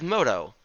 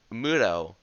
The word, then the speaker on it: Moto: Next up, we have Moto. Some people might pronounce it Muto, but that's a completely false and incorrect and a terrible pronunciation.